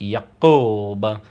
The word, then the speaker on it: Yakub: And this all ties into a Nation of Islam story that there was this mad scientist named Yaqub, spelled Yakob, sometimes Yakub, pronounced Yaqub, and he was a